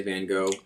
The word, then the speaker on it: Van Gogh: But in English, we always say Van Go.